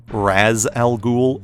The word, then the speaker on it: Ra's al Ghul: So the mystical ninja Batman is going to meet is Ra's al Ghul, which should actually be pronounced Raz al Ghul in Arabic, but the character's creators